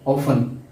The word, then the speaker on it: often: उसके बाद ऑफन, OFTEN, ऑफन, अक्सर, इसमें टी ये साकिन है, साइलेंट है।